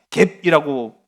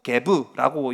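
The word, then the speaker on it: Geb: 사람이 바로 땅의 신이에요 갭이라고 표현하기도 하고 개부라고 이제 발음하기도 하는데이 땅의 신을 섬깁니다이 땅에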